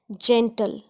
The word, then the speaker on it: gentle: For example words which have ji ई, हाउ डू we pronounce them? जेंटल, GENTLE, जेंडर, jail, GeM, जेंट.